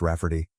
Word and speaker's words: Rafferty: She told my mom that spelling it Rayfarty will be obvious that it's pronounced Rafferty, but it makes it look more girly.